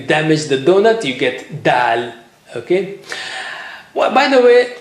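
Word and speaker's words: دال: So here is letter dal. How do you say it? The same way like you say, you know, ta, but here you have a little bit force.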